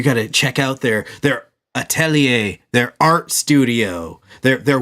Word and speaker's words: Atelier: for a year now how I was saying it is adelaire because that's how it's spelled yeah a-t-e-l-i-e-r uh okay gotcha Atelier but how it's actually said is Atelier oh yeah yeah [